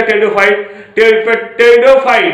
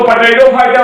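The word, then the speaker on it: Pteridophyta: टेरिडोफाइट PTE टेरिडोफाइटा PHYT, इसको पोटैटोफाइटा मत पढ़िएगा, रीजन उसका यह है पी साइलेंट है।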